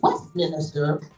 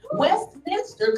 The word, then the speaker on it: Westminster: and pharmacy from W Westminister did I pronounce that right Westminster College and the University of